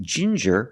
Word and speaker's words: ginger: With ginger, we use the J sound, like juice and jump, j, and the regular N, ginger.